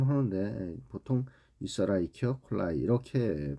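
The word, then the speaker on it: Escherichia coli: 이치 라이키 콜라이 뭐 이렇게도 발음 하는데 보통 라이키 콜라이 이렇게 발음을 하는 것이 정상적이라고 할 수 있겠습니다 자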